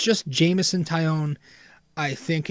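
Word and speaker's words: Jameson Taillon: ] out of me it's not james italian it's jameson taion um but i would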